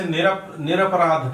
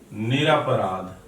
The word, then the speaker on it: निरपराध: इसी तरह से निरपराध कह देते हैं, निरपराध बोल देते हैं, या फिर तो इसका शुद्ध जो होगा वो होगा निरपराध।